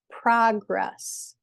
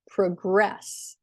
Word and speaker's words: progress: or a verb, like progress and progress. So as a noun, the first syllable is stressed.